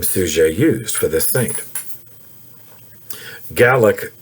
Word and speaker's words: Suger: It's spelled sugar, S-U-G-E-R, but it's pronounced Suger.